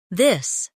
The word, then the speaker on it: this: Now practice the softer version of th where you let your tongue touch your teeth lightly but use your voice.